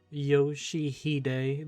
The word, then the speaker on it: Yoshihide: 아니, 그 글자는 그렇게 읽는 게 아니라 요시대라고 읽는 거다. Yoshihide, that's how you say it.